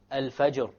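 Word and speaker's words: الفجر: So once again, it's not that difficult, because the fatha dhamma, the general rule is that it will be heavy. Examples are al-fajr. Al-fajr. We don't say al-fajr. Al-fajr.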